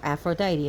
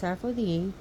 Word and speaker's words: Aphrodite: Aphrodite eventually takes on a title, Aphrodite Urania, or Aphrodite as we pronounce it here, but it's Aphrodite, again a soft D, Aphrodite Urania, meaning the heavenly Aphrodite.